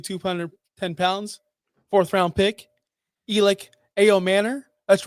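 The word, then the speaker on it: Elic Ayomanor: So, 6'2, 210 pounds, fourth round pick, Elic Ao Manor. That's right. I pronounced it correctly.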